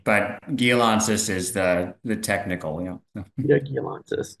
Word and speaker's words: Gialantzis: So think data with Peter Gialantzis. Peter, did I say it right? Peter. Yeah, you did pretty good. Yeah, I'm Peter, but Gialantzis is the technical, Peter Gialantzis, Chief Merchandising, Chief Commercial Officer at Pod Foods.